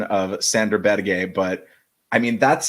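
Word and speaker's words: Berge: on this front uh that is how he pronounced his name it's not it's not Burge it's not Burger it's bad gay but or in America Sandy barge Sandy barge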